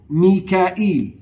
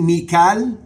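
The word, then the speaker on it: ميكائيل: Mikael is also pronounced differently, Mikal and Mikael.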